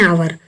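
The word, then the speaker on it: hour: एन आवर, इसमें लिखा है यच लेकिन इसका उच्चारण जो है आ निकल रहा है।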